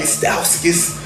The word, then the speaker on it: Stauskas: You had your boy Nick off the bench, Nick Stauskas. Yeah, I said it right, Stauskas off the bench with knocking threes down, making